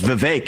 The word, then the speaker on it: Vivek: open up I say my name's Vivek it rhymes with cake it ain't about me